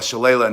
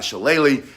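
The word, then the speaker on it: Shillelagh: I only call it Shala, not Shalle, because my Irish father-in-law was born in County Wikllo.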